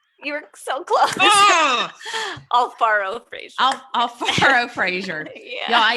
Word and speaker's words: Alfaro Frazier: Alfaro Frazier.